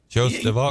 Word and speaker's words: Joost de Valk: Joost de Valk. Yes. Are we pronouncing that right? Joost de Valk? You're actually pretty good for an American.